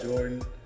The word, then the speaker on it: Geordan: And follow me, Jordan at Geordan on Instagram.